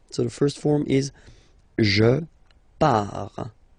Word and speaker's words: je pars: Okay, so the first form is je pars, so final S not pronounced, je pars.